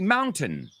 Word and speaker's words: mountain: Well, the British say mountain. Are you going to climb the mountain? And Americans, what do we say?